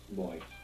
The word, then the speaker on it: voy: bit of voyage and you're mostly going to hear it pronounced more like a soft B boy boy boy now Bo